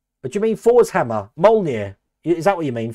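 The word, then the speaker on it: Mjölnir: Molnir. Is that what you mean? Forsammer. Molir. But it's spelled like M OJ.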